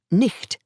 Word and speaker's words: night: ch in the north, so night, pronounced nicht at that time, could be spelt as night or nicht.